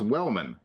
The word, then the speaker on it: Wellman: longtime longtime viewers will know I've had a relationship with this man for over 10 years, and he just told me today it's pronounced Wellman.